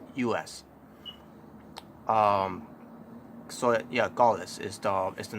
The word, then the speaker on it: Gallus: Because now they decided to go on the give them a faction's name, and they call themselves Gaullus. That's the how you pronounce their faction name, which is funny, because